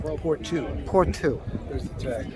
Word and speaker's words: Pourtout: How is it pronounced? Pourtout.